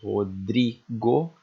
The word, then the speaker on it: Rodrigo: Por exemplo, Rodrigo, o dri é a tônica, aqui é a sílaba tônica do meu nome, certo?